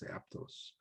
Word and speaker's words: Aptos: that toss people say but i think it's aptos i think is what it would be if i was saying in spanish it's aptos so that's a good question but yeah that's i think with any of these native words i think you phonetically sound them off as if they're they're written in spanish if that makes sense